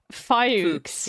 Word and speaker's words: Fox: Anyway, Emhard just said the Catholic store in Detroit is there's a Catholic store in Detroit called Fox, but it's pronounced Fuchs.